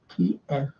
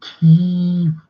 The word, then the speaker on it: Kiev: kept saying Kyiv, and I said it's Kiev, and I just put like K, you know, K-E-Y, and then stroke Ev, E-F. I said that's how you pronounce it, Kiev, not Kyiv, Judge, please. That's the Western interpretation.